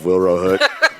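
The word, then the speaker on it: Wilrow Hood: I freaking love Wilro Hood. And that is how you say it.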